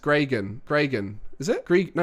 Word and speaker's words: Gregan: how do you pronounce my name technically it's pronounced gregan is it Greek no it's gregan what am